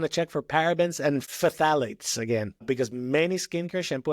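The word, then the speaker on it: phthalate: You want to check for parabens and fthalates again because many skincare shampoo and cosmetic products contain these hormone disrupting chemicals.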